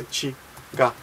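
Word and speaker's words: 違う: And it's pronounced this way, chigao.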